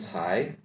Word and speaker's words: 财: Fa, the same as the first syllable of fa, and cai, the C, ts. Here sounds like the ts part of its. AI, I, says the same as I, with the second tone, I. So, I, cai, 发财, which means